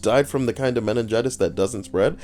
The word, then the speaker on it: meningitis: can get down on meningitis four syllables not like meningioma meningioma what about women